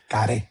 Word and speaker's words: Kare: Kare Kare. Yeah, that's correct. Yeah Puerto Rican pronunciation.